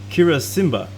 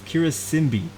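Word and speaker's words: Karisimbi: Makeno Volcano, and on your right, you will see the Mount Kirasimba. Sorry, that's not how you say it. That's completely wrong. It is not Kirasimba. It's Kirasimbi.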